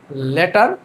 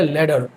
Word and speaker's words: letter: প্রথমে দেখেন যে যে ওয়ার্ডটা আছে এখানে সেটাকে উচ্চারণ আমরা বাঙালিরা যেটাকে বলি হচ্ছে লেটার। হ্যাঁ। কিন্তু আমেরিকানরা এটাকে বলে লেডার।